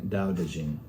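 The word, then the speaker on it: Dao De Jing: the same thing and they're both pronounced the same way Dao dejin so if you're wanting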